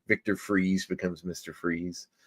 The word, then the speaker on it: Fries: Freeze. And it's Fries. Yeah, I know, but it's still pronounced Freeze.